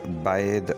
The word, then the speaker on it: bathe: से ख़त्म करते हैं, यानी जब ये वर्ब होगा तो इसको हम पढ़ेंगे बैद और जब ये नाउन होगा तो इसको पढ़ेंगे बाथ।